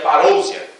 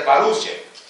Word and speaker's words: parousia: Pronúncia que temos é parúcia. Se fosse pronunciar como escrevemos, seria parousia. Não é parousia, mas é parúcia.